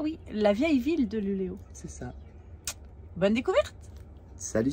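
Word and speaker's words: Luleå: Alors, dans cette vidéo, nous allons voir Luléo. Qui s'écrit Luléa, mais avec un petit rond dessus. Et en fait, quand c'est un A avec un rond dessus, ça se prononce O.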